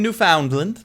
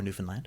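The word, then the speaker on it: Newfoundland: I was living in New Foundland or New Finland whichever way you wish to um which way you ever wish to pronounce it and uh I worked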